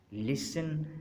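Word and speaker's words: listen: टी इज़ not pronounced in these common words. इनमें हम जो है वो लफ्ज़ों में हम टी को प्रोनाउंस नहीं करते। मसलन फैशन, लिसन, ऑफन, थिसिल और विसिल,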